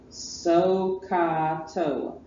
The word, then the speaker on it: SOHCAHTOA: SOHCAHTOA. Sounds like an Indian name. Let's go to Camp SOHCAHTOA or Lake SOHCAHTOA.